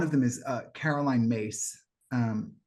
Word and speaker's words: Myss: them is uh Caroline mace um her name is spelled myss but it's pronounced mace and she once gave